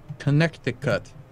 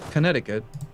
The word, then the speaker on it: Connecticut: Connecticut. Not Connecticut. Connecticut. Is that how you normally spell that word? Yes. Why do they have the extra C in there?